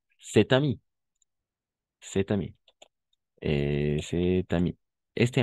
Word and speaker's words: cet ami: Y vamos a hacer una especie de liaison. Par exemple, cet ami.